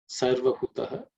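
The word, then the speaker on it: sarvahutaḥ: sarva hutaha This is the second letter in the third varga. So, it has to be aspirated.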